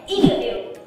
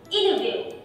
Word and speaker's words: interview: Thì mọi người sẽ thấy âm t trong câu này là đứng sau âm n. Vậy thì cô cũng bỏ luôn âm t đi. Interview. Interview. Ok, lần nữa nha. Interview.